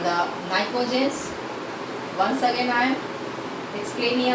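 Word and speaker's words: pnictogens: This is called the nicogens.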